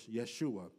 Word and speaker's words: Yeshua: In the Hebrew, the term is Yeshua, which is a shortened form of the word Yehoshua, which is really what you see as Joshua in the Old Testament.